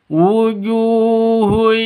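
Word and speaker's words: وجوه: wujuhun yaumaidzin kosi wujuhun yaumaidzin wujuhu ju panjang dua ketukan karena ada alif di ada wau mati diawali dengan dommah panjang dua ketukan itu mad asli atau mad thabi'i.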